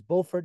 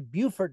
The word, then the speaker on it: Beaufort: that you'll come to is bordt North Carolina and that is bord North Carolina as opposed to Buford North South Carolina um and if you especially in Buford South Carolina if you say it wrong they will correct you any um Buford is